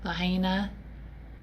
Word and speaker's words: Lahaina: I'm sorry how do you say it lahain Lahaina and then here and you see where it